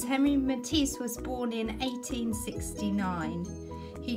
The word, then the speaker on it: Henri Matisse: You don't pronounce it Henry, you actually pronounce his name Henri Matisse.